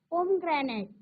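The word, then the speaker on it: pomegranate: एन ए टी इ जरी spelling मोठी असली तरी तुम्ही लक्षात ठेवायचं उच्चार पोम ग्रॅनाईट म्हणजे काय डाळिंब लक्षात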